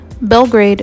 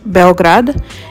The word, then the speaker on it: Beograd: Belgrade is how we pronounce it in English, but it's actually pronounced Beograd, and that means white city.